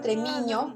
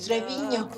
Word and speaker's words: Treviño: Es que fíjate que muchos usaban Tremiño y otros Treviño.